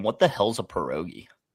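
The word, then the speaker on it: pierogi: Perogi. Got the pronunciation right.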